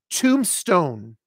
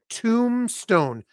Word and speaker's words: tombstone: And then if you're talking about the headstone that goes over the grave, that's a tombstone. Tombstone. Notice I am not pronouncing the B. No B.